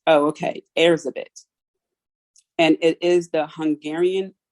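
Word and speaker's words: Erzsébet: was considered a witch and her name is pronounced heirs a bit okay airs a bit and it is the hungarian variant of elizabeth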